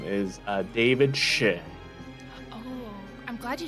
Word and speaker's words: Shih: His name is David Shih. Oh, I'm glad you said that because I would have pronounced it wrong. Shit.